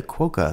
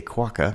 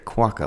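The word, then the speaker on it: quokka: going to be the quoka this was my first quoka quaka sorry it is a quaka and I have said it wrong before I should know better quaka like guacamole it's quaka but yes this is a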